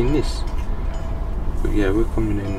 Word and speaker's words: Nice: It's basically pronounced it N-E-I-S, but it's actually Nice.